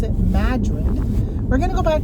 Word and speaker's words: Madrid: away um backtrack back to that town called Madrid spelled like Madrid but they pronounce it Madrid we're going to go back there they have